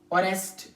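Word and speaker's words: honest: gust बूत को कहते हैं गस्ट हनर और ऑनेस्ट ऑनेस्ट या कभी कभार वो लब्ज जो ए से स्टार्ट होते है एक्चुअली व प्रोनाउंस नहीं की जाती है एच से स्टार्ट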